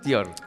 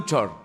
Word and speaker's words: Thior: Abdú Tior. Abdú Chor. Abdú, bueno, la pronunciación correcta sería Chor, pero vamos a españolizar el nombre y vamos a decir Tior.